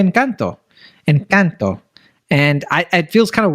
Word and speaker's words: Encanto: Technically, in Spanish, you pronounce A as A. So Encanto. Like, that's how you're supposed to say it.